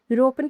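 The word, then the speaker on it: European: यूरोपियन की शुरुआत है। यह ए अक्षर से होती है।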